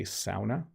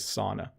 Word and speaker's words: sauna: have a sauna, or I think they say sauna, but the improper but most common pronunciation is sauna. That's how we all say it.